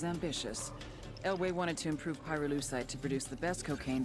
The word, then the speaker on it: pyrolucite: Pyrolucite, key syllable pyro, by the way, is the they mine in Via Verde Province to turn cocoa leaves into highquality cocaine.